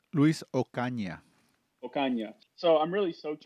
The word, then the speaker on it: Luis Ocaña: Luis Ocana? Luis Ocaña.